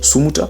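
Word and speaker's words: somotra: Si on est dans les hauts plateaux, on dit sumuta, S-O-M-O-T-R-A.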